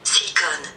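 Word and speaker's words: silicone: bu da fransızcadan geçmiş bu nasıl okunuyor hemen bakalım silikon silikon deniyormuş Fransızcada şimdi bir sonraki kelimeye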